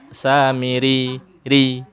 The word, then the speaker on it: Samiri: Kalau kita bertemu lagi, samiri itu cara bacanya samiri ri. Ada y-nya di ujung, bukan miri, bukan itu. Bukan samiri, bukan. Tapi harus ada y-nya di belakang.